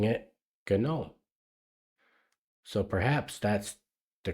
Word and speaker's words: GNOME: it was gnome because gnome is the correct way to spell that word in English the g is silent and then and I